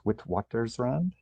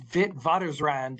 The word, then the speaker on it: Witwatersrand: how to pronounce this, but I think it's Witwatersrand, perhaps? Close? Yeah. Yeah, I think it's Witwatersrand in there you go. In Afrikaans.